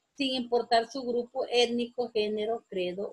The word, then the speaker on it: género: No dije género, dije género. Entonces, género es una palabra también esdrújula porque la sílaba tónica la tiene la antepenúltima sílaba.